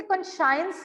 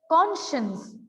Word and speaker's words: conscience: Please mark the spelling and the pronunciation. इसे कॉन्शियंस नहीं बोलना है. The pronunciation is कॉन्शियंस, right बेटा?